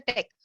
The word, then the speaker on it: TeX: Already madam has explained that every document we are making, it is having the extension as a text, TEX, but we'll pronounce as a text.